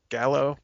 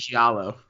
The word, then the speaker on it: giallo: He's done a lot of the Italian, how do you pronounce that? Gallo films? Giallo. Giallo films.